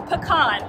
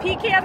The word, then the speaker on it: pecan: Also, I was informed the way they pronounce it down here is pecan. I'm from the north, and I've pronounced it pecan my whole life, so we'll just see what comes out of my mouth today.